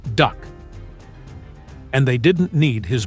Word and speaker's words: DUKW: The Americans called them DUKWs, pronounced duck.